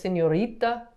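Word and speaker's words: señorita: so it's senorita yeah usually you're putting an emphasis on the word wherever you're seeing an accent or a little tilde over the n uh just wherever you see you know the accent then that's where you know you're going to do a little bit extra there okay the next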